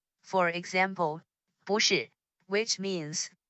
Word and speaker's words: 不是: However, when two consecutive words have the fourth tone, the first word is pronounced in the second tone. For example, 不是, which means wrong or not right.